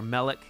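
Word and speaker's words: מלך: nouns is that the the the first syllable is accented which is really unusual the best examples you have are melik king well it becomes in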